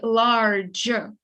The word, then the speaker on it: large: E, that you know the rule that letter E at the end of the word is a silent letter where you don't have a sound. You say large, you write the letter, but you don't read it.